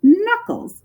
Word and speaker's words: knuckles: And knocking is usually done on a front door with your knuckles, another word that has a silent K in it. And it also is related to if you were making bread and you had to push the dough over and in the process called kneading dough.